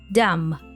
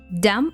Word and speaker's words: dumb: to this word Dum we don't pronounce the sound B at the end dumb dumb means stupid I really